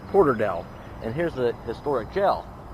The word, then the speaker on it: Porterdale: there's a guy laughs I think I used an ass it's Porter Dale and here's the historic